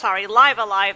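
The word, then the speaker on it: Live A Live: So it's kind of like Live Alive, Live Alive, that's how it's actually pronounced, but for visual novels.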